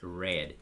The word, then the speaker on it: read: read read layer but in past is red like the color red common color so in